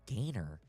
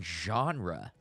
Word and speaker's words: genre: Gainer I was like Gainer and he kept on using Gainer and then I was like he mean genre but he didn't know how to say it so I always